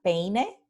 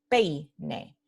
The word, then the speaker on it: peine: y ui, vemos que, como en la palabra peine, ¿no? Que es a comb, ¿no? Se silabifica peine. Entonces, ei, aquí tenemos un diptongo y tenemos la vocal pura o completa en primera posición y la semivocal en segunda posición. Entonces, es un diptongo decreciente, pei, pei.